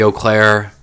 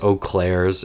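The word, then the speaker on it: Eaux Claires: Um, I guess Oak Claire's is how it's technically pronounced, but me being a snobby person who at least speaks a little French is like the S is silent.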